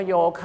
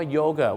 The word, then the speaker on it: yoga: เ ถาม ว่า โยกิ ดัง นั้น ครับ เรา ออก เสียง ว่า โยคะ นะ ครับ แต่ ฝรั่ง ออก เสียง ว่า โยเกิร์ต วิธี การ จำ ครับ